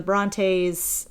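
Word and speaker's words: Brontë: And I really loved going to the Bronte's and all their home and being able to um Is that how you say it?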